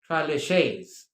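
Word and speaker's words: tres leches: It is TRES, as you can see on your screen, LECHES, LECHES, but the Spanish dish is pronounced traleches.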